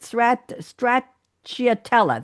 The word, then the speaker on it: stracciatella: I don't know how to pronounce it. Stracciatella.